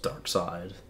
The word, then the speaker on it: Darkseid: That's Darkseid. That's not how side is spelled.